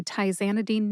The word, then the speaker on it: tizanidine: Tye-ZAN-i-deen has 4 syllables. That's tye, like a necktie, Zan, like the second half of the name Tarzan, which is a short I sound, like the I in the word president, and dean, like the dean of a college of pharmacy. Put all 4 syllables together and you get tye-ZAN-i-deen.